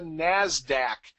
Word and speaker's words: NASDAQ: the other large exchange we have is the NASDAQ and again that's the usually accepted pronunciation and that's the National Association of Securities